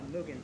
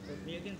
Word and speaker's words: Mugen: So these are it's pronounced Japanese. It's pronounced Mugen, but it's Mugen.